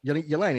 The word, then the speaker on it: Yelena: We would have been better off with just Elena, if you ask me. Yelena, is that right? Am I saying it right, Courtney?